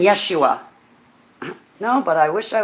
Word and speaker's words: Yeshua: yeshua first of all yet dummy you dummy yeshua is the correct way to pronounce his name just like holly you pronounce